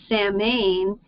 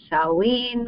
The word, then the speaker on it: Samhain: Summer's end and though you're probably tempted to pronounced samine it's actually pronounced s saen we've heard of Halloween SE so how did